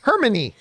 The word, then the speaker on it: Hermione: At least, when I read Harry Potter, they told me how to say Hermione. The phonetic note was in there. Hermione.